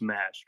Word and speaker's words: Mash: Is it pronounced Mash to the stage? Yes, it's Mash. Correct.